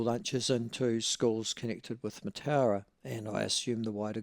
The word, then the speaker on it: Mataura: Now, for those of you who don't know where Mataura is, I'm sure it's probably pronounced, the Maori pronunciation would be Mataura, but their old R should too.